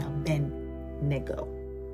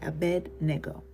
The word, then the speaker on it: Abednego: shadow dra meak and abedo did I say his name right Abednego right uh their way wasn't out